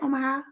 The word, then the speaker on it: Omaha: So they're doing big things over there in Omaha. Did I say it right? Omaha? Yes, ma'am.